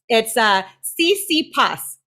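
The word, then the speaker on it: Tsitsipas: It's CC Pus. That PS kills me. I would have never pronounced it like that, so you're doing way better than me.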